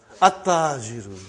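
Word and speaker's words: التاجر: At-tajiru. You did not pronounce al. You did not pronounce lam. Okay, you did not pronounce, you skipped it.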